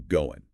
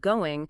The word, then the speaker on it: going: However, in practical, rapid, informal speech, the final G sound in the ing ending is very often dropped, and this results in the natural reduction to goin'.